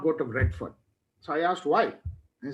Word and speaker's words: Redfern: How do you say it again? Redfern, F-E-R-N. Redfern.